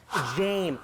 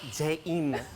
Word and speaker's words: James: Jim, James, not Jaim.